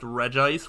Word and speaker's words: Regice: beat here I think Reggie ice is the worst mostly because it's pronounced Regice which is terrible Regice is so much better um I think ready